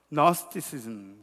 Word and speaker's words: Gnosticism: 근데 이제 그노스티시즘이라는 단어를 영어로 이렇게 보면은, 영어에서 이렇게 얘기할 때는 G자가 묵음이에요. 처음에 G자가. 그래서 Gnosticism 그렇게 이야기를 합니다.